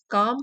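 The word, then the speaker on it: calm: pronunciation भी लिखा है काम मींस शांत एल साइलेंट है इसमें एडमायब्रांड क्लेरिटी क्लियर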